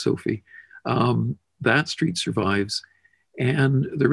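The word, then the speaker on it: Sophia: or I-A, I guess, Sophie, but it's still pronounced Sophie.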